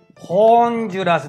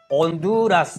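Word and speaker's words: Honduras: スペイン語で H、アチェと発音しますが、H は発音しません。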